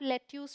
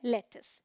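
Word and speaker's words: lettuce: रही हूं ध्यान रखिए क्योंकि स्पेलिंग के अकॉर्डिंग जाएंगे तो इसे आप लेट्यूस पढ़ लेंगे बट यह है लेटस ठीक है यह है पालक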